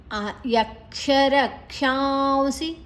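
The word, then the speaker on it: यक्षरक्षांसि: ಯಕ್ಷರಕ್ಷಾಂಸಿ ರಕ್ಷಾಂಸಿ ಕ ಇದು ಆಘಾತವನ್ನ ರ ದ ಜೊತೆ ತಕೊಳ್ಳುವ ಕ್ಷ ಮತ್ತೆ ಷ ಷಣ್ಮುಖ ಷ ಅಡಿತ್ತಿದೆ ನಂತರ ಅಲ್ಲಿ ಅನುಸ್ವರದ ಉಚ್ಚಾರಣೆ ಉ ಅಲ್ಲಿ ಎರಡು ಅಕ್ಷರಗಳು ಅಂದ್ರೆ ಇಲ್ಲಿ ಕ್ಷ ಮತ್ತೆ ಸಿ ಇದರ ಮಧ್ಯ ಅನುಸಾರ ಬಂದ್ರೆ ಸ ಷ ವ ಈ ಮೂರು ಅಕ್ಷರಗಳು ಬಂದ್ರೆ ನಮ್ಮ ಅನುಸರದ ಉಚ್ಚಾರಣೆ ಉ ಆಗ್ತದೆ ಯಕ್ಷರ ಕ್ಷಾಂಸಿ ರಾಜಸ ರಾಜಸ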